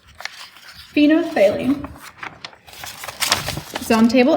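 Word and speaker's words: phenolphthalein: to pronounce it's called phenothalene there's a lot of silent letters in it phenothalene is on table m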